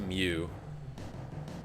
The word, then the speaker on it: Mu: I know technically the Greek letter is supposed to be pronounced Mew.